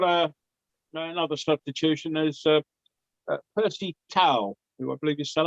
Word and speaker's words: Percy Tau: i pronounced tao handbag so much for everyone's relief uh tails on for the number 16.